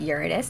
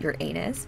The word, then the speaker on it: Uranus: of the zodiac Uranus yes I pronounce it Uranus not your anus but whatever you can